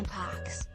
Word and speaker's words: mpox: Several months ago, the California Department of Public Health started referring to it as MPX, pronounced MPX or Mpox.